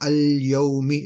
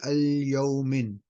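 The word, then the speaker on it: الْيَوْمِ: Now, because the alif lam has come, the double ending in this case, yeah, has to become single. So al-yawmi. It's not going to be al-yawmin.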